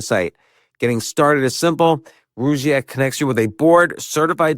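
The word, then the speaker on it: Rugiet: And Rougiette is spelled R-U-G, like rug, and I-E-T.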